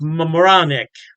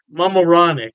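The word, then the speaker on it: Mamaroneck: York state pipsy and I believe it's pronounced Mam moranic Mam moranic yeah don't quote me on that pronunciation I tried my best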